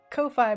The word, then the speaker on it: Ko-fi: Sarah with T on Ko-fi because I refuse to say it coffee because it's not how it's spelled.